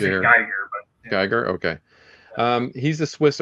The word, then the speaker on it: Giger: Uh, HR Giger, is that how you pronounce his last name or is it a guy here? Geer.